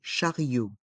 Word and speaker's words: chariot: charot les voyelles I et o se prononcent ensemble Rio le Charat Rio le chariot l'entrée du supermarché l'entrée